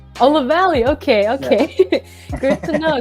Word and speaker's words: Lavallee: Please let me know if I pronounced that correctly. That was pretty close. It's Lavallee. Oh, Lavallee.